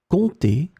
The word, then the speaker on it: compter: In this lesson, we will see together two words that are written differently but pronounced the same way. Compter, compter.